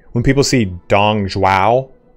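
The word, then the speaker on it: 董卓: Like, when people see Dong Zhuo, it's Dong Zhuo.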